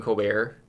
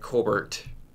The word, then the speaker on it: Colbert: be completely wrong and he pronounces it differently right like Stephen Colbert instead of like right like his grandfather said Cobert really yeah huh yeah